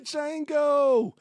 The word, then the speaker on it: Django: The Django, you black son of a bitch. The D is silent here, Billy. And also joining us is...